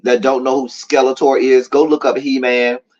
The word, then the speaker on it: Skeletor: say we know about Skeletor and mispronounce his name not Skelton it's Skeletor not skeleton Dear God anyway Tracy